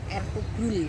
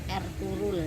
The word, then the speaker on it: Ertuğrul: tentang sosok yang bernama Ertugrul Gazi, atau kalau dalam bahasa Turki pengucapannya menjadi Ertuğrul ya, G-nya tidak dibaca.